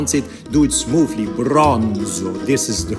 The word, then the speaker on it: Bronzo: Bronzo. This is the right way to pronounce it. Yeah, Italian. The Italian has to be pronounced very smoothly.